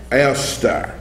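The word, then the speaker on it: Eostre: call Esther and I gave you the original pronunciation eler which is spelled e o s t r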